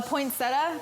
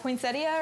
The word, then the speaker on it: poinsettia: you chat so angry a poinsettia poinsettia or whatever because i never i never say it right well no there's an extra eye at the end of it uh it's uh prosecco